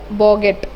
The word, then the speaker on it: bougette: That is बॉगेट. ठीक है, बॉगेट का स्पेलिंग देख लो, BOUGETTE, जिसका मतलब होता है स्मॉल बैग.